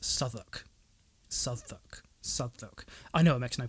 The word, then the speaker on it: Southwark: that and no one better pronounce this as south walk because it's pronounced southwark southak i know it makes no bloody sense i